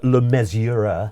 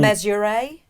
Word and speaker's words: Le Mesurier: John Le Mesurier. Yeah. No, I've said that wrong, haven't I never know how to say it. John- Le Mesurier? Oh, that's good. That sounds good.